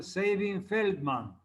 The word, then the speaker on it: Sabin-Feldman: Primero tenemos la prueba de Sabin, se pronuncia Sabin-Feldman.